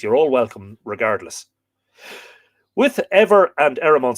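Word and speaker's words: Éber: So Ever is E-B-E-R, but of course, it being between two vowels, it would have the shevu on it, which would be E-B-H-E-R, which would be pronounced E-V-E-R.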